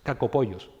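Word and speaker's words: κακοποιός: El término griego es la pronunciación es no van a hacer reír, pero bueno, es cacopollos, ¿vale?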